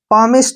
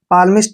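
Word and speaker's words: palmist: को ट पढ़ना है इसलिए दोस्तों हम इसको पमिस्ट कहेंगे क्या कहेंगे पमिस्ट पालमिस्ट नहीं पढ़ना है पमिस्ट पमिस्ट होता है दोस्तो दोस्तों हस्त रेखा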